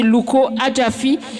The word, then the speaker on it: Luko Adjaffi: Alors, si jamais vous voulez vous abonner sur les réseaux ou trouver Louko Adjafi, ça se tape comme ça se prononce. Luko espace ADJAFFI.